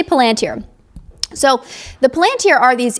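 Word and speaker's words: palantír: He says palanteer, but we're not sure if that's an English accent thing or if that's the correct way to pronounce it. We'll say palanteer.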